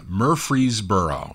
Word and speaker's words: Murfreesboro: Murfreesboro.